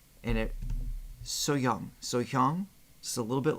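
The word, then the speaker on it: 소향: I'm pretty sure it's SoHyang. Is that correct? Like the H is semi-silent, and it SoHyang.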